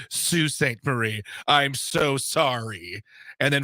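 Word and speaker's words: Sault Ste. Marie: okay thanks a lot it's pronounced Sue St Marie I'm so sorry and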